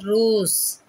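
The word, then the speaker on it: rose: salt Sun சா salt Z sound பாருங்கள் ரோஸ் ரோஸ் இசு sound வருதா ரோஸ் நோஸ் ஹோஸ் அந்த இசு சவுண்டு வருது பாருங்கள் ரோஸ் நோஸ் ஹோஸ் இந்த இ வந்து சைலண்ட்டு எஸ் தான் நமக்கு உச்சரி சவுண்டு வரும் அந்த சவுண்டும் இசட் சவுண்டில் தான் வரும் இதை நல்லா ஞாபகத்தில்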